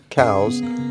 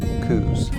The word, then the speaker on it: Coues: while stationed in arizona so for a true pronunciation i guess you'd have to ask mr coos himself but we're about a century and a half too late for that so for argument's sake we will use the most commonly accepted pronunciation coups or scientifically yeah you